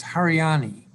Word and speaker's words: Hariani: I still have the name wrong. It's Hariani.